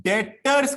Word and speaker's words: debtor: तो प्रोनाउंस कीजिए DETOR, इसको प्रोनाउंस कीजिएगा डेटर। लिखते हैं DEBTOR, लेकिन प्रोनाउंसिएशन जो है वो बी जो है, बी फॉर बलून, बी जो है वो साइलेंट है यहां पे।